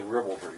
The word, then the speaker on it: ribaldry: Ribaldry. It's the first syllable that's stressed.